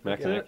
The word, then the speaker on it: Mackinac: Mackinac, yeah.